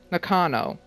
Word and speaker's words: Nakano: missing persons case he's involving one consuming knockin nakano is how you pronounce her last name anyway poor girl thinks